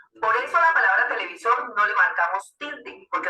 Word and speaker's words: televisor: Poníamos en el caso anterior la palabra televisor. Es una palabra aguda porque lleva el acento en la última sílaba.